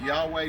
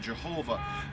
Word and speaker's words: Yahweh: There are no vowels in Hebrew. So some pronounce it Yahweh, some pronounce it Jehovah.